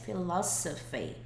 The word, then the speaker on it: philosophy: E uma coisa doida dessa palavra é que isso daqui, esse S, ele não tem som de Z, ele tem som de S. Philosophy.